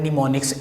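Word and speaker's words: mnemonics: इसकी जो प्रोनाउंसिएशन है वो है निमोनिक्स, एम जो है इसके अंदर साइलेंस है, तो निमोनिक्स इसको पढ़ना है।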